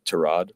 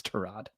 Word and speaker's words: Tyrod: game came to him against the Jets against Todd. Just want to ask you about what you remember about playing with him your first year in Cleveland. It's correctly pronounced Trod, but he doesn't correct people.